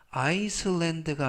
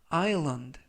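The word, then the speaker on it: island: 강세가 있고요 이번 단어에서 알파벳 알파벳 S 무음이라 발음이 되지 않습니다 그래서 아이랜드가 아니라 아일런드 아일런드 라고 발음하시면 되겠고요 품사는 명사 뜻은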